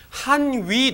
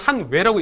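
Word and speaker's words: 漢委: 되어있는데 이것도 오른쪽에 보시면 한위 노국왕 혹은 한위를 그냥 한외라고 읽는 경우도 있어요. 한자는 위인데 그냥 한외, 외하고 한나라가 조공과 책봉 관계를 했기 때문에 라고 나오는데 그것도 후한 때예요.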